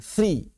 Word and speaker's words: three: Bukan tri. Three pakai tsa.